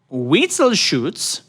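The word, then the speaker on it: Witzelsucht: oh yeah tell me about it yeah um we sell shoots repeat that word you weasel shoot okay spell it w i t z-e-l-s-u-c-h-t no vital shoots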